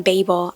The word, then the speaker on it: Babel: a little bit of a reading update on Babel I did look up how to say it